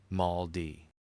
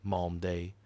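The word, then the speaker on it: Malmedy: of a Belgian town, pronounces it Mald D. A prisoner corrects him softly. Malm day, as if the syllables were a thing to be kept honest.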